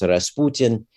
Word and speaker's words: Rasputin: and all that and Rasputin uh in Russian pronounced Rasputin is fairly common surname in